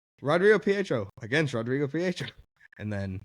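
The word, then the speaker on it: Rodrigo Prieto: But Rodrigo Pietro, that's how you say it, this cinematographer.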